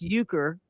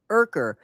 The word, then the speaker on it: Urker: in Turkey, it's pronounced Euchre, and here in the United States, because it's spelled Urker, it's pronounced Urker.